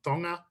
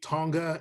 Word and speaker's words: Tonga: We have students from Tonga. We have a lot of students from Samoa. I've learned how to pronounce certain things. I used to say Tonga and Samoa, but it's Tonga and Samoa.